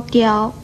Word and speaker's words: 叼: 跟叨字很类似的是左边这个刁字，刁字的国语注音是的腰刁，一声刁。